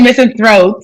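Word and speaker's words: misanthrope: is missing throat what no I didn't say missing throat not again miss Thro spell it missing Thro m i s a n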